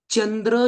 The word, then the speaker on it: चंद्र: असेल उदाहरण उदाहरण सांगतो चमचा शब्द आहे चमचा चमचा शब्द मराठी आहे त्यामुळे तिथे चमचा असंच उच्चारण झालं पाहिजे चंद्र शब्द संस्कृत आहे त्यामुळे चंद्र च उच्चारण होतं चंद्र म्हणतो का आपण